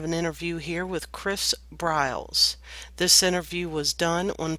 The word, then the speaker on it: Briles: Chris BRS and Chris am I pronouncing your last name right well we I've always called it BRS BRS okay well I call